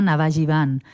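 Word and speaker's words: Navajeevan: También tenemos un Facebook y la asociación se llama Navajivan. Esto hay que deletrearlo, Bel, porque en Facebook estará escrito no como se pronuncia, bueno, ¿no?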